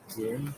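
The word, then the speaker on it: Hring: How do you pronounce that? Giring.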